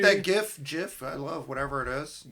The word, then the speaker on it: GIF: I saw a video that so pointedly put it out because it's It's a soft G, not a hard G.